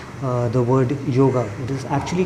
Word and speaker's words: yoga: And the sadhu must have said, yog, to make him understand. So he understood in a way which he went and wrote it down. He understood it as yoga. So he went and wrote Y-O-G-A, yoga, and now all of us have been